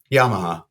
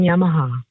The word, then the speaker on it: Yamaha: thank you for calling Yamaha Yamaha oh so she said Yamaha that's what I mean the inflection is different on the second syllable let hear it again